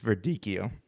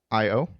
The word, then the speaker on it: Verdicchio: Verdicchio. Okay, it's Verdicchio. I was trying to help. Verdiccio. Verdicchio.